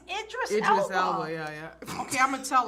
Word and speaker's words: Idris: pronunciation of his name she calls him idri is it Idris elow or IDR Idris I think it's Idris Idris she's wrong I hear everyone was like ID I'm like that's not his name yes it is I'm